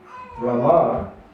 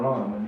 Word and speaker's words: Rama: If you say Hare Ram, Ram Ram, and you don't say Rama, then it comes down to 28 syllables. But that's not our process is 32 syllables. So you have to say, in the kirtans, Hare Ram, Ram. That's not correct.